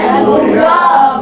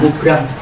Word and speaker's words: mubram: Ada dua, yaitu mu'alad dan mubrom. Coba di video tadi ada toh? Mubrom. Ya, bacanya mubrom, jangan mubram. Mubrom.